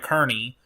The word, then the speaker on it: Kearney: Got to say it right, Kearney, moving southeast at 35 miles an hour.